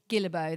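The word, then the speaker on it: Guillebeau: Time Anxiety by Chris Gilbo.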